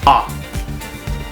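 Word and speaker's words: あ: in the a column and row so it's pronounced ah okay ah as in hmm uh august okay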